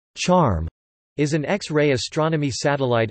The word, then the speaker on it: XARM: formerly named the X-ray Astronomy Recovery Mission (XARM), pronounced "charm," is an X-ray astronomy satellite of the Japan